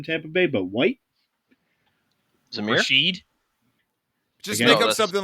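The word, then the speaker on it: Rachaad: Rashid? Just make up something like Baker and justify it. I'm not gonna make up a name, but it's Rashad.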